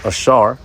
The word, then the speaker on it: Asher: Now first let's get the name Asher which um is pronounced Ashar which goes into um happy or happy is he.